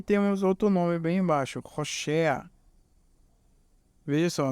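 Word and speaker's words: הושע: E aí temos outro nome bem embaixo, Roshea. Veja só, nessa palavra o Vav tem o som secundário de consoante vocálica, que é um O.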